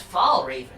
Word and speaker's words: Fellraven: you are you yes it's pronounced fall raven it's pronounced falls oh